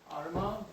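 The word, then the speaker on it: Armagh: Can you pronounce that? Arma.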